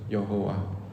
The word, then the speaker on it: 여호와: 여호와라는 주의 이름이라는 것이죠 여호와 자 우리 이제 소리로는 정확하게 발성은 못하는데 이제 보통 이제 야라는 말씀으로 많이 하고 여기 이제 아도나이 모음이 붙어져 있어서 우리는 여호와라고 발음을 합니다 실제로이 발음을 정확하게 낼